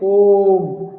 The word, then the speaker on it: ओम: वो लंबा गया आपका, ध्वनि जो है ओ जो बोला ना, कितना लंबा गया, ओम।